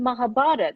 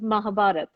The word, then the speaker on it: Mahabharata: we doing reruns of mahabharata or mahabharata have i pronounced it well i don't even know no it's just mahabharata people do call it mahabharata um i i think